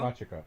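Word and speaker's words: Machico: Machiko? Machiko.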